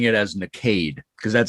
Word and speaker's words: Nakade: Is it Nakade? Yes. Perfect.